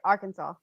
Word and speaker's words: Arkansas: so yeah that's great i think i said it right arkansas it's arcane it's our kansas i looked it up